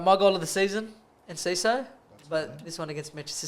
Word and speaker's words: Enciso: It's Enciso.